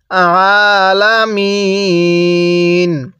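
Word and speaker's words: العالمين: ওয়াকফ করলে আলামিন। আইনটা পড়ার সময় গলার মধ্যে হালকা চাপ দিয়ে পড়লে আইনটা সহি শুদ্ধ উচ্চারণ হবে।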